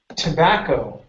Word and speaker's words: tobacco: we have the word tobacco now here the the O at the beginning instead of saying to or to okay it's t toac tobacco tobacco one more time tobacco